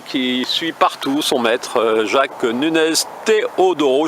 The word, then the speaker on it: Jacques Núñez Teodoro: suit partout son maître, Jacques Núñez Teodoro, je prononce bien? Tout à fait, enfin à la française, mais Voilà, alors, vous êtes pardonné. Avec l'accent, ça donne quoi? Jacques Núñez Teodoro.